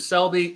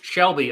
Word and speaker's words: Shelby: yeah talk about old richard selby shelby i keep saying selby shelby richard shelby has been